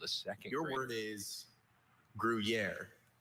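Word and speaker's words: Gruyère: Gruier.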